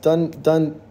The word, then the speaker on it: Dunde: Dunde is pronounced Dunne.